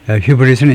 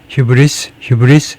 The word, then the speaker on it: hubris: pride, 지나친 자부심을 우리가 휴브리 하는데 휴브리스 S 발음을 하든가요. 휴브리스를 처벌한. 그래서 휴브리스를 해보겠습니다. 휴브리스가 그리스어에서 S 발음을 하느냐, 브리티시 잉글리시에서 아메리칸이 둘 다 휴브리스 S 발음을 해야 되네요.